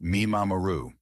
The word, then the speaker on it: mimamoru: It is a practice called mimamoru, pronounced mee-ma-ma-roo.